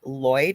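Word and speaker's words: Lwyd: I actually had Google Translate because I believe it's Welsh and it's spelled M A R I L W Y D. And so it says Welsh in quotations grey, but it's actually Mary M a R Y Lloyd.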